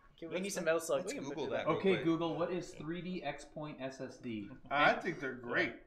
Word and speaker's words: XPoint: here pronounced 3d crosspoint no it's not crosspoint its x point just like the iPhones